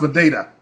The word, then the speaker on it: Madeira: And there was a fellow named Philippe that we were voting for from Madeira. Is that how you say it? Madeira. That's pronounced Madeira.